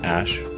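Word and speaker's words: Æ: x the letter X the AE is like pronounced Ash and then uh a12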